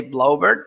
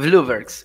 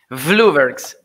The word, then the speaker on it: Vloeberghs: a question for you how how should i pronounce your your last name i i tried to say blaubert but then i i used it late and